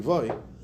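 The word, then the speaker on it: Loew: So the Maharal of Prague, Rabbi Yehuda Lowy, or the proper pronunciation is Rabbi Yehuda Levoy, legend has it that he created the Golem of Prague, and I'm actually his great-great-grandchild.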